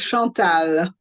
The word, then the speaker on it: Chantal: Chantal, is that how you pronounce your name? Yes, Chantal. Yes, Lovely. French pronunciation.